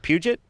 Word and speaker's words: Puget: our guest tonight jade is it puget that's correct good job oh my god you're the first person to ever pronounce that right yeah they put some like french flavor and uh adam